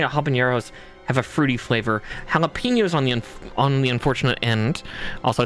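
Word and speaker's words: jalapeño: Jalapenos on the unfortunate end. Also, it's spelled with a J, nature. The J is an H because that's Spanish.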